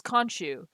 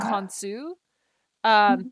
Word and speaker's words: Khonsu: Okay, it was Khonshu. Or Oh, technically Khonshu. it's Yeah. Khonsu. That's the real pronunciation.